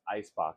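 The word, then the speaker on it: Eisbock: and alcohol balance pronounced ice Bo because in German ice is ice um or if you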